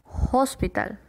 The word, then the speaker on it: hospital: Siguiente tenemos hospital. Hospital. Un hospital. Entonces, ¿cómo sería? A hospital. A hospital. Porque tenemos un sonido consonántico. Por la H sí se pronuncia hospital.